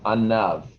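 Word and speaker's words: ענו: The word for in Hebrew for humility is anav. Anav is spelled ayin nun vav, anav.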